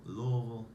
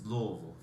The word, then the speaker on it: Louisville: It's pretty much like you've been drinking a while and you're mumbling some words and you're trying to say Louisville, Louisville, Louisville. It's Louisville. Don't say Louisville, don't say Louisville.